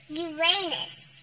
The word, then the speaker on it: Uranus: Uranus. Yes. Many people like to joke about the name of this. It's actually pronounced Uranus.